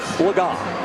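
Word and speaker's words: Legas: Player spotlight is brought to you by Cameo Cooper Lagon. That is the correct pronunciation as we corrected ourselves just a few minutes ago.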